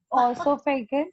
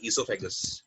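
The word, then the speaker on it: oesophagus: ऑसोफेगस। आइसोफेगस। नाम होता है ऑसोफेगस। ओएसो नहीं, ईसोफेगस। इट्स, वो जो होता है इसोफेगस। वो साइलेंट होता है, ठीक है, इट्स ईसोफेगस, ठीक है।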